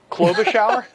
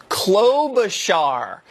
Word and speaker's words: Klobuchar: Snow Globe Klobuchar? Klobuchar. I had too much shear on the char.